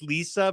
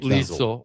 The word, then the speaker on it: Liesel: Hi, It's like Lisa, but with an L at the end. So Yeah. like Liesel. Okay, Liesel. Rhymes with diesel.